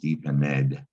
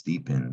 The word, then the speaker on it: deepened: it it's not pronounced deep in ed it's deep end one of the rules about adding ed is you just hear the d sometimes you might think